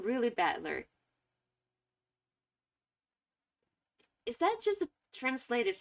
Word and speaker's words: Battler: It's made up of the characters for fight and person, so it's pronounced battler. Is this a translation? Is his name really Battler?